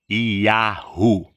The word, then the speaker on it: Yahu: O nome do nosso Pai Supremo, que tudo criou, no hebraico original arcaico, a pronúncia mais próxima do nome do nosso Pai Supremo, que criou todas as coisas, é Yahu.